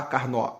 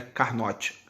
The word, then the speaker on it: Carnot: futacs aqui o nicolas leonard sata carnô tá carne ó esse note aí não é carnot francesa carne ó com suas camadas eu acho